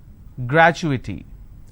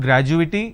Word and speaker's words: gratuity: pictorial confirmation technology accrual gratuity it's not graduating it's gratuity all right so when